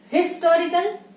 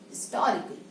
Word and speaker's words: historical: Do we say historical? No. It is historical.